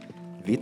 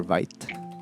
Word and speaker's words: Vite: react app so V so vit or Vite I I heard vit pronunciation so npm create vit